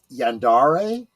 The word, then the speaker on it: Yandere: And before someone says something, I do believe that the term is pronounced Yandere.